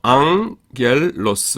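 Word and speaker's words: ἄγγελος: 어 감마 감마가 두 개가 나오죠. 요거는 이응 받침이 됩니다. 앞에 거는 하나가 어 그 우리나라 기역 발음 두 개가 합 합해지면은 이렇게 앞에 거가 이제 이응이 돼요. 그래서 앙겔로스 이렇게 됩니다.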